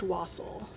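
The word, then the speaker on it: wassail: And it's pronounced Wassel. Well, probably more like a V sound on the W because it's probably Germanic origins, but kind of morphed to Wassel.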